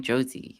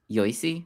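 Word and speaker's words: Yossi: Why are you saying Josie? He's saying y I mean Josie because it's the English. Yosi. Rabiosi. Rabiosi. It's Rabiosi. Yeah. Yosi. It's interesting because it's spelled differently than how you would spell like the nickname for Joseph that people use nowadays. I mean the I the IPA has No, it's it's Yes, it's Yosi Ben Halton.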